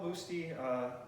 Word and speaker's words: Busti: The pronunciation was changed over time, but it's Paolo Busti, but Busti Ave.